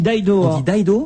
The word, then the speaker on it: Dido: Non, on dit Dido. En Angleterre et aux États-Unis, cher ami. Et pour une fois que je sais prononcer comme il faut, c'est pas toi qui vas me reprendre. Quand tu vas chez un disquaire à New York ou à Londres, tu demandes Dido.